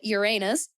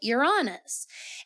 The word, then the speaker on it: Uranus: And then you maybe not, but you may have heard people pronounce it Uranus. And this is also very, very common and potentially a more traditional way of pronouncing it.